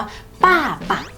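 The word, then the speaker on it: 爸爸: ใบ ไม้ ถูก ไหม แต่ ใน ภาษา จีน ตัว นี้ ค่ะ มัน ออก เสียง ว่า ป้า ปะ ป่า ปัก แปล ว่า คุณ พ่อ นะ คะ ตัว B ค่ะ ใน พินอิน ภาษา จีน เนี่ย มัน ออก เสียง เป็น ป ปลา นะ คะ ออก เสียง คล้าย กับ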